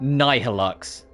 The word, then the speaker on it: Nihilux: They It's pronounced Nihilux because it's playing off of Nihil, not Nihilism. But when I read it, my brain immediately goes n like nhilix because my brain does go to nihilism or instead of that